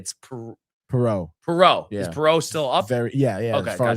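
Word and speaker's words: Perreault: Uh P pero what do we settle on? It's Perau.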